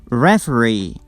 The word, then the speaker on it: referee: For the words ending with these suffix, the stress is on the last syllable. Double E, guarantee, trainee, referee, absentee, refugee, escapee.